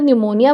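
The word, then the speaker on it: pneumonia: बट मैं जब बोल रही हूं तो मैं तो निमोनिया बोल रही हूं इसको।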